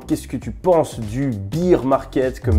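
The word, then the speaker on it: bear market: Qu'est-ce que tu penses du beer market ? Comme disent les Français, be market pour les personnes qui ont une meilleure prononciation, marché ours, si on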